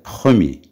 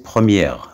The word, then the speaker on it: premier: Premier, on fait un petit trait, puis un UR, c'est-à-dire premier. Premier, c'est-à-dire wal aoul. Premier. Il ne faut pas prononcer première, c'est premier.